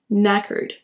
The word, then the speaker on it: knackered: Ne prononcez pas le K en début de mot, faites directement le son N. Knackered.